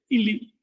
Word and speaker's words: INRI: Y a colmo arriba le pone INRI, que en maya se entiende, INLI, se lee, en maya no pronuncia la R, pronuncia ese nombre, lo lee INLI, que quiere decir yo